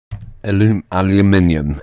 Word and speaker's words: aluminium: Aluminium, in case you're not familiar with that pronunciation.